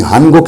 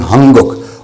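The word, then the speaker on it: 한국: ये पश्चिम वाला कॉन्सोनेंट, ये जो गीयक है ये ईयंग बन जाएगा, इसकी आवाज़ आएगी एनजी की, यानी हनगुक नहीं हंगुक।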